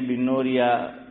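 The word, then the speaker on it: بَنوریہ: ہوتا ہے۔ جامعہ بنوریہ، بعض حضرات زیر پڑھتے ہیں بنوریہ اور بعض زبر پڑھتے ہیں۔ حضرت مولانا عبداللہ صاحب کاپودروی رحمۃ اللہ علیہ کی تحقیق یہ تھی کہ صحیح تلفظ بنوریہ ہے، با پر زبر ہے، فتحہ ہے۔ تو آن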